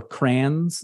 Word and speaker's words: crayons: break out the crayons, or crayons, as we pronounce them here in Michigan, in the Midwest of the United States. We don't have time for two syllables when it comes to crayons. We just call them crayons, like cranberry.